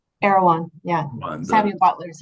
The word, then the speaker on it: Erewhon: And you start with, do you pronounce it Irwan? Erewhon.